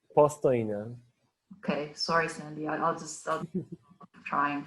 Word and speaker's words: Postojna: How do you say it? Postojna.